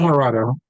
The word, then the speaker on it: Migliorato: Migliorato.